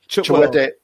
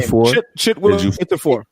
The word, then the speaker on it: Chiwetel: Oh, Chiwetel. Can never say his name. Chiwetel.